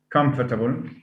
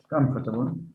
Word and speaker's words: comfortable: syllable i do know about able again comfortable comfortable that's again able is listed as as a suffix is it a suffix